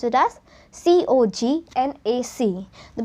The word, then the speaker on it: Cognac: Then we have the sixth one, which is we pronounce it as C-O-G-N-A-C. The pronunciation is as Cognac.